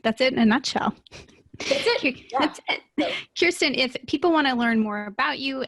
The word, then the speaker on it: Khierstyn: product launch or whatnot you can go to Kirsten com my name is impossible so it's spelled KH i e r s t YN